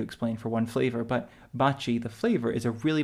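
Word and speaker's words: Baci: it looks like B Baki B I don't know how you pronounce it in English but it's pronounced Bachi in Italian and it means kisses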